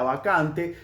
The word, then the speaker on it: Vacant: El problema se generaba en la forma que pronunciaba Vacant. Presten la atención, no, pretty Vacant, como que acentúa el cunt, y cunt, para la jerga o el argot británico, hace referencia al órgano sexual femenino dicho de manera grosera.